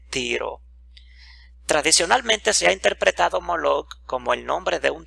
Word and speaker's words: Moloch: tradicionalmente se ha interpretado moloch como el nombre de un dios probablemente denominado el rey pero pronunciado a propósito como mo lake en vez de emelec utilizando las vocales de la palabra hebrea boxset por otra parte se